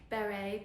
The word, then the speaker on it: Béri: English accent pronouncing Barry I do believe it's meant to be more like Beret but oh well and